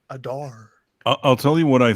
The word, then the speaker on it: Adar: I thought it was Adan. I forget. Whatever. Adore. But yeah, I he's don't gone. sound like that. No, that's how people pronounce it. Adar.